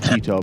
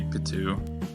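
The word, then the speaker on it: Pitou: I say it Pito because I think it's spelled more like Pito, but I guess you've watched the anime, so you know the pronunciation more. Yeah, I'd say Patu. Patu.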